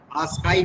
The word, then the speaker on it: ASCII: उसके बाद last code है हमारा आस्काई कोड। Yes, sir. कुछ लोग इसको आस्की भी प्रोनाउंस करते हैं। यू कैन कॉल, आप आस्की भी बोल सकते हो, आस्काई बोल सकते हो, जो भी है, मतलब वही है।